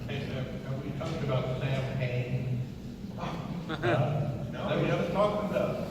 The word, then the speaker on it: Samhain: Yeah, and Dan O'Hurley taught us that the actual pronunciation is Samhain.